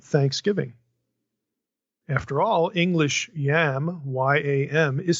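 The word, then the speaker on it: ים: After all, English yam, Y-A-M, is spelled the same as Hebrew Y-A-M. And I'll pronounce both the same way to make the point, exactly the same, yam, okay?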